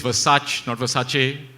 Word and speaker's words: Versace: is nonita has coached me on how to pronounce all the luxury Brands um apparently it's Versace like I was saying you know am I